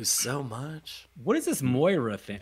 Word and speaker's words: Moira: much what is this Moira thing like it's always been Moira it's my Myra Myra no never mind it's never been mine you're out of your